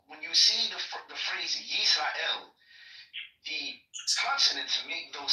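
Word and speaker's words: ישראל: So in other words, the New Testament authors, which you believe are all Israelites, they captured the pronunciation of the name of the nation, and it's pronounced Yisrael.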